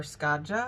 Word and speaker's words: Skádja: This is regarding the short Echo, or Skádja, I believe it's pronounced.